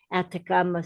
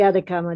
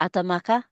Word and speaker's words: Atacama: That's the Atacama Desert. And it's Yes, yes. happening How do you spell that? Atacama. Atacama. Atamaka?